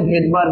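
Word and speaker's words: Svedberg: sedimentation rate আর এই sedimentation রেটটার একক হচ্ছে ভেদবার্গ ইউনিট এটা হচ্ছে এস বি ডি বি ই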